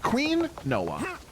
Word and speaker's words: quinoa: Queen Noah. Oh, pardon me. Queen Noah. Got it. Thank you, Samio. Yeah, it's pronounced Queen Noah.